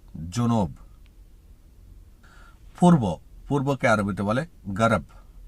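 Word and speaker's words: جنوب: দক্ষিণকে আরবিতে বলে জুনব উচ্চারণটা হবে জুনব পূর্ব পূর্বকে আরবিতে বলে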